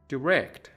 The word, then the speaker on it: direct: Direct direct direct این کلمه به صورت direct هم خونده میشه. هر دو تلفظ درسته.